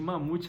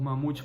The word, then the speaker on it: Mahmoud: Mas eu confesso que eu chamava ele de Mamute a história inteira. Eu não sei se esse H tem som de R ou se esse H é mudo, mas eu chamava ele de Mamute.